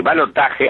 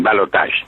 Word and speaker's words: balotage: Pero en realidad esta palabra ya está castellanizada como balotaje, que es horrible, ¿no? Claro. Nadie la pronuncia, pero está castellanizada. Se puede decir balotaje, a veces los diarios deciden balotaje, pero los argentinos seguimos diciendo balotage.